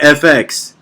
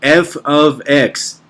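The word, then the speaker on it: f(x): that algebra one freshman please do not read that fx it's that's not how you read it you read it f of x say it correctly in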